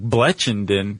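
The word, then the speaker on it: Blechynden: hot tea named Richard Blackenden. I know, what a name. I know. And he was, Even if you pronounce it the other way, like Bletchenden, it doesn't matter.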